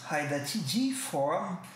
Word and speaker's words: hydatidiform: hydatidiform mole em inglês, prestando atenção aqui ao fonema D, que existe na palavra em inglês, hydatidiform, mas não em português, hidatiforme, e choriocarcinoma, de pronúncia praticamente idêntica nos dois idiomas.